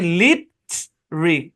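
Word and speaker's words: litre: দেখেন, লিটার বানান অনেক সময় দেখবেন এরকম লেখা থাকে, লিটার মানে লিট রি, এরকম লেখা থাকে, এটার উচ্চারণ কিন্তু লিটার।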